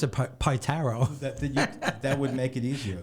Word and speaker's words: Pietaro: Just pronounce it Pietaro.